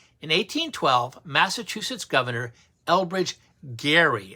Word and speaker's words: Gerry: In 1812, Massachusetts Governor Elbridge Gerry, it's actually pronounced with a hard G, who was a founding father, approved a plan to bizarrely redraw districts to benefit his party.